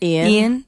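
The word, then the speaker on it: Iain: the narrator's name again Ian yeah it spelled like yayan though yeah but it's Ian yeah and I think is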